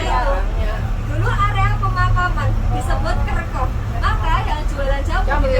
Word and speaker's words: kerkhof: Kalau makamnya orang Belanda itu istilahnya kerkhof. Kerkhof. Pakai Iya, P aslinya kerkhof. kerkhof. Kerkhof.